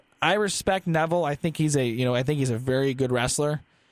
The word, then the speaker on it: Neville: No one's on the level of, I'm going to say Neville because it rhymes with level, even though if I just saw this word by itself, I probably wouldn't pronounce it that way.